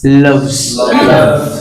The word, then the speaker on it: loves: হি লাভস, লাভস না, অনেকে কিন্তু দেখো আমরা উচ্চারণ করার সময় অনেকে কিন্তু বলে ফেলতেছি লাভস, লাভ না, লাভ বলে পি হয়ে যাবে, রাইট? সো পি না বলে বলতো লাভস, হি লাভস, লাভস, এখানে উচ্চারণ হবে না, এখানে হবে জ।